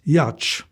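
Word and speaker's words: Jocz: Yaakov Josh, pronounced Yach, was a third-generation Jewish believer born in 1906 in a small shtetl near Vilnius in Lithuania.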